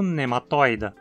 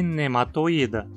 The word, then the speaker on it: Nematoida: Por isso, muitas pessoas acabam pronunciando nematoida. Só que aqui a penúltima sílaba é apenas esse i, e ele na verdade é um i longo. Então a pronúncia adequada deveria ser nematoida. Mas no caso desse sufixo a pronúncia errada é tão comum que eu até já tolero. Mas se você quer que sua pronúncia seja impecável, fale nematoida. Em entoprocta, a penúltima sílaba